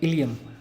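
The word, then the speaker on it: ileum: Spelling से confuse मत होना, ये कैपिटल आई और स्मॉल एल है और EUM, इलियम।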